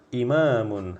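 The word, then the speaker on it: إِمَامٌ: Ti yang pertama imamun imamun harus panjang ya imamun Imam artinya ya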